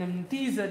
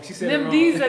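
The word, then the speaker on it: Ni byiza: Thank you all for coming out today and making this an Amdiza day for us. She said that wrong. Nibdiza day.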